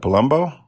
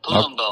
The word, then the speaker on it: Palumbo: fantastic performers Mia palum uh how do you pronounce that Palumbo yep Palumbo okay so according to uh the latest ratings